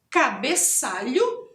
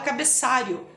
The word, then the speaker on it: cabeçalho: cabeçalho empecilho e trabalho cabeçalho também é uma palavra que muita gente escuta e pronuncia de forma errada escuta olhou como fosse r i o Rio e fala cabeçário o a gente costuma